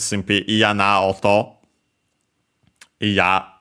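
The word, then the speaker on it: 嫌: Iya, the na adjective with accent on the last mora, which means disliking, not wanting, unwilling, by extension, so unpleasant, disagreeable, and so on.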